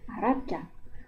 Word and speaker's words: Arapça: Yang menggunakan ekor di bawahnya seperti Arabca. Jadi dibaca c. Arabca.